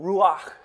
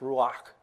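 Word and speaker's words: רוּחַ: That Hebrew Ruach, as I'm told it's pronounced Ruach, or in the Greek pneuma, means air in motion, spirit, breath, wind, which flows.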